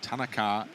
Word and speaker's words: Tanaka: have been told that the pronunciation I think is Tanaka and not uh as we have previously been uh suggesting it's Tanaka right so Tanaka is what we're going